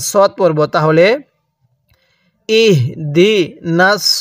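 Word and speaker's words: اهدنا: এরপরে ইহদি শব্দটা, ইহদি বিশেষ করে খেয়াল করবেন, এই হাটা উচ্চারণের সময় অনেকে আমরা এটাকে বড় হা উচ্চারণ করে ফেলি, অর্থাৎ এই হাটা উচ্চারণের সময় মুখ দিয়ে হালকা বাতাস বের করে ফেলি, ইহদি পড়ি। যদি ইহদি পড়ি তাহলে কিন্তু হাটা পরিপূর্ণ উচ্চারণ হলো না।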